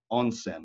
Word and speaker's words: onsen: a pronoun pronounced right it's called a Nishiyama onsen own sin means bathhouse it's been in business